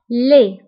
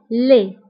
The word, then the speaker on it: laid: فبالنسبة لدي ما كنتبقاش في آخر الكلمة كنقولو laid. قبيح هي laid.